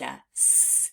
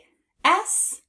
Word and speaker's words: as: to learn by heart that's why we pronounce the word as with the Z at the end now let's practice spelling it on our arm stick your arm out please a A S as let's do it